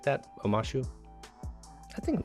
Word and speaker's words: Omashu: Omashu, I think I'm saying it right. Omashu, yes.